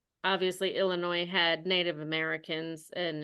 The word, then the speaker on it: Illinois: Illinois and it's obviously Illinois had Native Americans and it's very ingrained in our culture there and we don't pronounce the s but when the movie